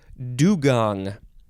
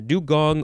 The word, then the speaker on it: dugong: is the last word dugong you can say how do you pronounce this uh there's a couple of ways do gong I think like a Gong that goes bong yeah dugong or dugong d-u-g-o-n-g noun